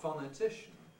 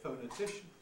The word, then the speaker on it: phonetician: earth in phonetics is there are people who say phonetician others say phonetician because both o and r can be strong vowels corresponding to both of them so there's fluctuation here between two possibilities oh now the first